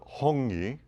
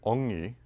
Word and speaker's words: hongi: In New Zealand, they call it hongi. Mm-hmm. In some tribes of New Zealand, they don't pronounce the H, so they say ongi, ongi, ongo.